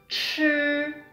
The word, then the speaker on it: 吃: 吃. Again, we don't curl it. We don't curl the tongue, okay? We just say 吃.